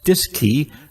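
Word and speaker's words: DSKY: display and keypad known as the dsk Y pronounced dis key on board both the CM and M LM Mission Control at Houston also had a disc key to interface with the AGC for remote control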